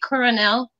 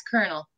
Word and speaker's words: colonel: They say coronel, but they're wrong. It's colonel. Colonel.